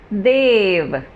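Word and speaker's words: they've: लेकिन प्रोनाउंस कैसे करूँगी इसको मैं इसको प्रोनाउंस करूँगी देव. देव, जैसे हमारे देवी देवता के बारे में हम बात करते हैं, वैसे वाला प्रोनाउंसिएशन आएगा इसमें, देव.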